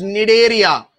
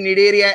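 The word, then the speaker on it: Cnidaria: as phylum need area c is silent we'll pronounce it as need area okay we would discuss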